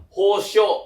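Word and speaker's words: 保証: Berarti cara bacanya itu adalah hosho ya.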